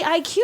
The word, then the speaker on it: IQ: it's supposed to be IQ but you don't pronounce the Q like a q in any of these other Fancy Pants names as they're doing all